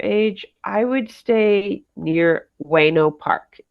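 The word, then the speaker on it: Ueno: So, if your kids are like toddler age, I would stay near Weno Park. It's spelled U E N O.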